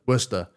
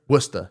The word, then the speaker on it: Worcester: I've never had is it was it Walkers had like Worcester crisps or something? I think everything has it. Also, you pronounced it wrong, but that's okay. you pronounce it? Worcester. Worcester? Worcester, yeah.